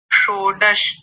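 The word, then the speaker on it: षोडश: शोडश फिर से बोलिए शोडश वाह क्या बात है शोडश पहले मूर्धन्य शकार और फिर बाद में है तालव्य शकार शो डश शो डश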